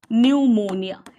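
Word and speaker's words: pneumonia: न्यूमोनिया, इसमें 'P' है चुपचाप, बच्चे, 'पी' मौन, 'पी' उच्चारण करेंगे नहीं।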